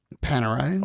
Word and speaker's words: Panerai: Then um there's Grand Seiko and the um how do you say the Panerai Panerai also very simple.